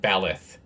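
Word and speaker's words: Blaidd: B-L-A-I-D-D. Pronounced Balith. 2 D's makes a T-H.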